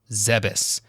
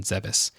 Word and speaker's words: Zebes: pronunciation of the planet zebus going by the japanese katakana name of zebes it should be pronounced as ze as in zelda bess or beth that's because there is